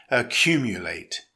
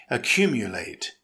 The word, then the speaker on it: accumulate: It's a verb with four syllables. Stress the second syllable. It's pronounced accumulate. Accumulate.